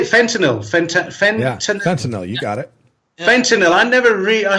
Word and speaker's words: fentanyl: Fentanyl, you got it.